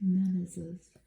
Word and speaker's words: Menezes: The model is Lara Menezes. Isn't she lovely? I don't know how to say her name. M-E-N-E-Z-E-Z. Z-E-S, Menezes.